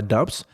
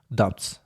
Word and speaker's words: doubts: Doubts. Да, у нас Б не читается. Помним, это у нас сомнения какие-то. Doubts. Doubts. Да, Б не читается, и Т не читает.